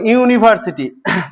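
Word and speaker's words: university: একটা ইউনিভার্সিটি স্থাপন করেছে বা তৈরি করেছে এ ইউনিভার্সিটি ইউটা আমরা জানি ভায়েল সাউন্ড ভায়েল তাহলে এর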